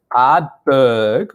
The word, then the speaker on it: Ardbeg: Maybe you can, can you roll your R's on Ardbeg for us? See, he got the silent second R that most people who know what they're talking about miss.